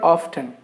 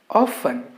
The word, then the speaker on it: often: often we make mistake pronouncing this word as often it's not often even though the spelling is often the letter t is silent in this particular word so the correct pronunciation of this word is often often we often go